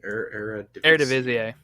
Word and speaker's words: Eredivisie: Eredivisie.